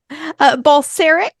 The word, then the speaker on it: Balcerek: And I have Barcelik. I hope I'm pronouncing your name right. Close enough. so how do you pronounce it? Balcerek is the American pronunciation.